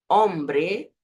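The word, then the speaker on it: hombre: letra não tem som Então você vai ler as palavras com H como se o h não tivesse ali por exemplo Ombre como se a letra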